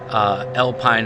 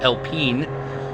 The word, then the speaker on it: Alpine: So it has a French engine in it, developed by Alpine, or I'm sorry, apparently it's supposed to be pronounced Alpine. I did not know that.